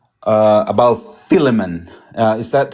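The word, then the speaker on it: Philemon: Uh about Filimon. Uh is that how you say it? Filament. Phileimmon.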